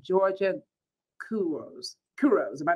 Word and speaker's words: Couros: Couros. Am I pronouncing it? Yeah, it's Georgia Couros.